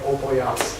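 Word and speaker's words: Опояз: All of the people who were part of Apoyaz. Yeah, Russian pronunciation requires that first O sounds like an A, so I am saying Opoyaz.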